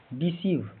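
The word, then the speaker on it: deceive: ई का उच्चारण pronunciation डिसीव यहां डी ई का उच्चारण डी छोटी इ होता है। सी इ आई की ध्वनि सी लंबी ई होती है। अंत का भी व इ साइलेंट होता है।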